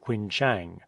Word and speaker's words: Quinchang: merchants we corresponded with called it by a different name from that which our portuguese pilot gave it who pronounced it quinchang as we were unanimous